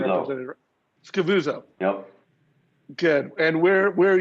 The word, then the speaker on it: Scavuzzo: Scavuzzo.